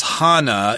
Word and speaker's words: Hannah: Hannah arant okay uh you might pronounce this Hanah if you're in ger Germany but she did uh immigrate